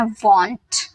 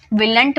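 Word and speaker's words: won't: Will not को वॉन्ट बोलते हैं, ठीक है, विलंट मत बोलिएगा, वॉन्ट, will not, वॉन्ट, okay.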